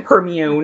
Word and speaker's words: Hermione: Hermione. That's how I pronounced it.